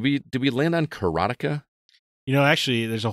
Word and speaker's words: Karateka: to pronounce it uh Jordan mechner I think says keratea but uh he he is that that's not even proper anyway because it's Bas